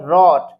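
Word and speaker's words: wrote: अगर कोई वर्ड अगर स्टार्ट होता है डब्ल्यू आर से तो उन वर्ड्स में डब्ल्यू लेटर साइलेंट रहेगा।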